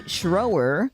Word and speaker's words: Schroer: talking first with Scher rhymes with flamethrower that's what your husband said that's right yeah okay so Scher what is your role